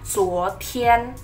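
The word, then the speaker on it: 昨天: Kemarin itu dibacanya adalah zuo tian. Zuo tian. Nah, kemarin kita bacanya zuo tian.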